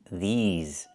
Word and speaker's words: these: I need the long E like green beans. These. Plus the Z sound like in zebra and zipper.